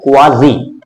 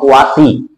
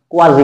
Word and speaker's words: quasi: কথাটা কি? কোয়াজি, প্রোনাউন্সিয়েশনটা ঠিক করতে হবে, নট কোয়াসি, কোয়াসি নয়, ভুল উচ্চারণ, কোয়াজি, কোয়াজি প্যাসিভ।